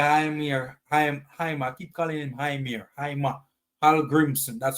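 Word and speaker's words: Heimir Hallgrímsson: I don't know where Heimir, I keep calling him Heimir Hallgrimmson. That's how it's pronounced.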